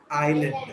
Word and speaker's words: island: No, I don't think it is island.